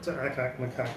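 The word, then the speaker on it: Ack-Ack Macaque: Now to get on to Akak Makak, did I pronounce that properly?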